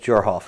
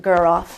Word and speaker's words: Guroff: Mark Dyer and Elizabeth Jorhoff. Is that correct? No, her name is pronounced Guroff, and there was another member there as well.